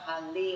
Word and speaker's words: Hali: me up to say his name can you pronounce your name Tamba Tamba Hal tah Hali of course we know he's from the Kansas